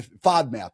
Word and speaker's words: FODMAP: So, kind of and it's literally called a I FODMAP.